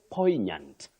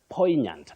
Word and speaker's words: poignant: with at jhore gate you say poignant poignant not poignant that we commonly hear around us poignant is the pronunciation that is acceptable then we have at